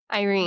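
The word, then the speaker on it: Yrene: How do you pronounce this one? Is it It's Y R E N E. How would we pronounce that? Irene.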